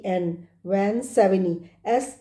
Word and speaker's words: Savigny: वी ए एन वन सेविनी एस ए वी आई जी एन वाई एस ए वी आई जी एन वाई ji silent है इसमें सेविनी बोलेंगे इसको Karl Frederick one सेविनी